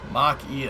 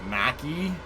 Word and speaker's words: Mach-E: They had an ad during Gamescom and they pronounce Mach-E as Mac-E. Ford Mac-E? No, it's Mach!